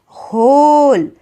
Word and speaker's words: whole: उसके बाद वाला वर्ड है होल, WHOLE, होल। इसमें हम W का जो प्रोनाउंसिएशन है व प्रोनाउंसिएशन, व वाला साउंड नहीं निकालते। हम इस टाइप के लेटर को साइलेंट लेटर बोलते हैं।